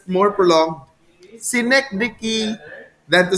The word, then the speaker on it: synecdoche: the neck doki it's you look at the pronunciation in my with my mouth see neck vicky neck dicky it's not the neck donkey it's a neck dicky so god are the